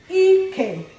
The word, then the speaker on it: ike: High, low. Ike, meaning buttocks.